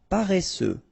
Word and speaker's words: paresseux: Paresseux. Final X not pronounced.